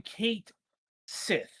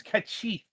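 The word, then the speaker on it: Cait Sìth: Like people still call him Kate Sith when it's kachit or something like that.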